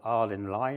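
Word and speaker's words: Ardingly: One in Southampton, one across here at a place called Ardinley, I'm told how to pronounce it. It could be Ardinley to me, but it's Ardinley.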